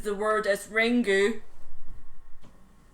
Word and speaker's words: Ringu: The American trailer for ring pronounces the word as ringu. But in fact, Japanese word Japanese words must end either with a vowel or an n. The U should be pronounced a softly vocalized schwa.